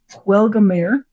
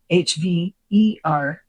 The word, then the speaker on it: Hvergelmir: Huelgamir. Okay, this is the error. In the text, it's spelled Huergelmir. The real reference is to Havelgmir, Hvergelmir. So U versus B, and it's not a fucking bird.